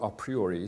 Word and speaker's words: a priori: A priori knowledge, or a priori, sometimes pronounced, a priori knowledge is something like, for example, the claim that everything is caused.